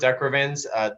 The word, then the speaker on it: De Quervain: I've always heard it pronounced Decrevins, tenosynovitis, but I mean tomato, tomato, right?